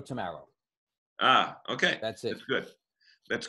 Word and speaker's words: Tamma: pronouncing your name right it is tomorrow right tomorrow yes i i like to say uh straight as an arrow tomorrow ah okay that's it